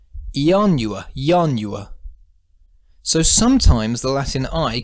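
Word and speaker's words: ianua: word which means door if we pronounce the first i as a vowel the word is four syllables yanua it's only a small step from saying the four syllable yanua to saying the three syllable yanua yanua so sometimes the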